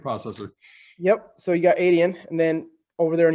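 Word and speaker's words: Adyen: be a lot like i think you pronounce the name adian is that does that sound about right um european yeah financier right the payment processor yep so you got adian and then over there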